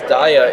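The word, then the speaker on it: Daiya: it's a we next might, day air job, yes.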